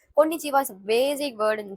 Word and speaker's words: konnichiwa: Konnichiwa. This letter is ko in ni chi wa. So combinedly we can say this word as konnichiwa. Konnichiwa is a basic word